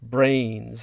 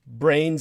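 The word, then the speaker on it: branes: the microgravity worlds of brains and in the quantum physics and geometric terminology that's spelled b-r-a-n-e-s mind you not brains like human brains but brains in the equation sense b-r-a-n-e-s and super strings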